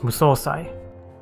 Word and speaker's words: Musosai: Oh, yeah, his name has a long O sound, so it's Musosai.